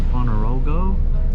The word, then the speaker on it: Ponorogo: We have arrived in Ponorogo.